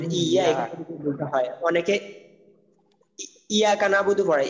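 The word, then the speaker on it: إِيَّاكَ نَعْبُدُ: তো ইয়া ইয়া মানে যেটা হোক তাজিদ থাকে এটা দুইবার উচ্চারণ করতে হয় আর কি। ইয়া অনেকে ইয়া কানাবুদু বলে, হ্যাঁ তো এই ভুলটা যাতে না হয়।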